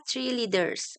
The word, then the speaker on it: Tree Leader: Dan tim kami adalah namanya Tree Leader tapi bacanya tre leaders.